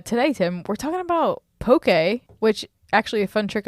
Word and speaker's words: poke: told that it was poker okay yeah so remember poke rhymes with Okay so Tim how do